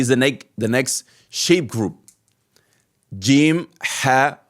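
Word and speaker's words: جيم: Okay, and first before this one comes jim, then ha, then kha. Okay, so jim like J, like gym, like going to the gym.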